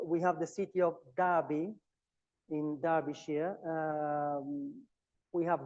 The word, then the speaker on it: Derby: Then we have uh this suff we find this suffix uh by but it's not pronounced by when we apply to a name uh to a noun. So we have the city of Derby in Darishia.